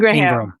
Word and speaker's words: Ingraham: So it's spelled Ingraham, but it's pronounced Ingram.